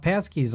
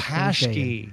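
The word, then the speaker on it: pączki: I don't know if anybody has celebrated Fat Tuesday, but, you know, I don't know what the big deal about Passkeys are.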